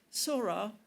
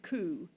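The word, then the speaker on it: 空: Sora meaning sky is an original Japanese word that was assigned to this character when the characters were imported from China. But along with the characters coming in, pronunciations coming in from China, it also has the pronunciation coup. And in airport, this compound word two uh kanji characters cuco, this same character is coup rather than sora.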